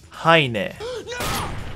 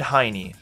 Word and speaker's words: Heine: now think about this how do you pronounce that i'll give you a second it's heine but i bet you said hiney aka but ruben saw